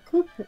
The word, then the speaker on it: coup: the middle of a coup at this time. He just took a photograph. It does look really good, I'll admit. Go ahead. Also, the P is silent in coup.